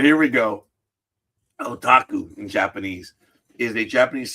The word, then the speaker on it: otaku: See, I'm classified as an otaku because of all of this. I'm sorry, what was that pronunciation? Otaku. Oh, I just said orotaku. And oh my God, I knew I got it wrong.